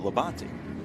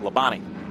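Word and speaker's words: Labonte: pronounce your name and he said well we pronounce it leban but all NASCAR fans and announcers call it lebani leani he said they try to shorten all the words right why waste a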